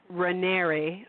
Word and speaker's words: Raniere: how to pronounce Keith's riner's name and it's pronounced rer like Canary oh interesting okay good thank you